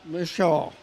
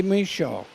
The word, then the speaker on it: Michaud: Michaud. We say Michaud. We don't pronounce the D, but it's French, so, you know, they're a little different.